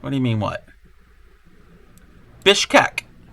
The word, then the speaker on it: Bishkek: this looks like it would be the capital Bishkek and let's look this cental Plaza if there is a plaza what do you mean what what do you mean what Bishkek b i s b i s h k